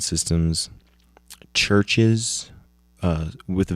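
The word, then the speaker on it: CHVRCHES: um featuring Ella Golding uh LCD sound systems churches uh with a V spelled I mean pronounced ches you got two sets of the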